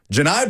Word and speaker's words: Johni: Not Johnny Broome. Janai Broome, the SEC Player of the Year, one of the best players in all of college basketball last year for the Auburn Tigers. It's spelled Johnny. It is not. It's Johni.